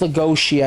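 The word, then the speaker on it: Lugosi: Yeah, it's Lagosi, I believe it was.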